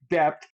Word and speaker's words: debt: I actually still say debt. I forget that the B is silent.